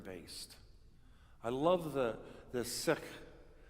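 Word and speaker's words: Sikh: I love the the sick you know or seeks how some people pronounce it but it was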